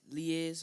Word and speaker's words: liaise: May I please get the pronunciation? Is liaise?